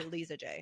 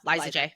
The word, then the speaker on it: Liza J: everybody go to Li did you pronounce the grandmother's name as Liza J or liisa J no Liza J okay that's what I thought too and I think that's what it's supposed to be that's what I thought